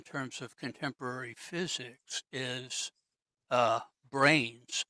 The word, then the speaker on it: branes: of contemporary physics is brains. And I have to spell it because it's not the thing in our skull, it's BRANES, as in membranes.